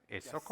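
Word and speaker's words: Esoko: He's a geoinformation scientist, agronomist, and a farmer currently serving as CEO of ESOCO. Do I pronounce that correctly? ESOCO, yes.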